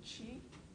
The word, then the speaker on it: qi: The Chinese, of course, call it qi, and the Koreans and the Japanese call it ki, which is spelled like so.